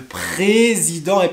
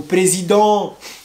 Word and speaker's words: Président: fromage président le camembert le président est président ou présidents présidente non le président vous avez donc lait